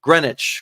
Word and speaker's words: Greenwich: like hey calm down I've never been there Greenwich Greenwich Connecticut is where the Brunswick school is I